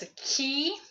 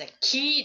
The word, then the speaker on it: 気: So that's what the idea, and it's basically sharing the same character pronounced as an ki or chi, that is as an tomato or tomato.